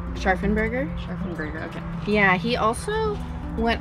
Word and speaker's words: Scharfenberger: How do you pronounce the name? Scharfenberger.